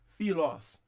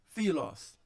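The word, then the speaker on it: φίλος: Você percebe que ele é preservado tanto na escrita, na transliteração, quanto na pronúncia, colocando a tonicidade aqui no philos, philos.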